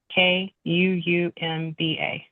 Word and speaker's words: Kuumba: Spell it. Kuumba. UMBA. Say it again. Kuumba.